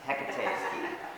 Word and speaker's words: Hecate: I call it Hecate, but it's like Tecate, but no, it's Hecate.